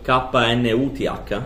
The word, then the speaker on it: Knuth: Però in realtà la stragrande maggioranza delle riduzioni si può fare come Knuth Reduction.